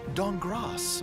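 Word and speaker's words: Dankgrass: C-Team, Amy Falcone's Walnut Dongras. The K is silent.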